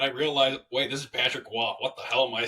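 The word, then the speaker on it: Patrick Roy: the New York Islanders fire lane Lambert uh Patrick W takes over um I don't know why his last name is spelled Ro Y and they pronounce it w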